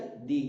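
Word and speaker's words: the: यूज कर रहे हैं, तो उसका उच्चारण रहेगा दी, अर्थात बड़ा जोर देके थोड़ा सा प्रेस उस पर हम क्या करेंगे, उसको थोड़ा सा प्रेसिंग डालेंगे, तो उसमें क्या होगा, दी लिखेंगे उसमें, जैसे दी लॉन्गेस्ट, दी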